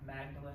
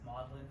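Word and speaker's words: Magdalen: uh this is a picture of looks like magdalin but they pronounce it modlin this is modlin college at Oxford which was taught um and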